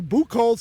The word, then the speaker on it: Buchholz: joined with Eric now he said you're not going to be able to pronounce my name bools I think we nailed it nailed it got it